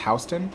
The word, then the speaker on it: Houston: houston street oh houston is that pronounced is that how it's pronounced houston wow okay south of